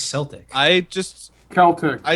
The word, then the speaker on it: Celtic: sounds Celtic.